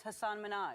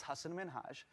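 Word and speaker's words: Hasan Minhaj: Good, please, because everyone that says your name says Hassan Minhaj. Yeah, but the real way you pronounce it, and this is a big deal because my parents are here, it's Hassan Minhaj.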